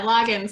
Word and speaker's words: Loggins: and if I mess, is it Loggins? Is that exactly how you say it, Loggins? Yeah, Loggins, like Kenny Loggins.